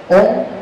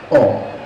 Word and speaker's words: Om: to use this word, Om. That means Om is composed of three phonemic units, triplets, I would say.